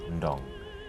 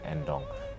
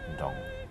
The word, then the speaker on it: Ndong: Normalmente mi nombre se pronuncia Ndong. Es que el sonido de Nd no existe en francés o castellano, entonces los europeos dicen Ndong, pero normalmente se dice Ndong.